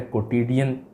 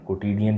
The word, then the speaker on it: quotidian: ये कोई वर्ड नहीं है, ये वर्ड है कोटिडियन। तो ये QUOTIDIAN, कोटिडियन।